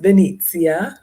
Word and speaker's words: Venezia: summer uh Venice Italy also will pronounced Venezia by the Italians um so every year